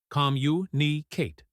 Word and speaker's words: communicate: The stress is on the first syllable. Repeat, communicate.